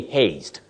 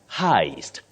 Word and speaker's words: heist: robbery we don't say haste this word is not pronounced as haste the way it is spelled you say Heist Heist Heist a bank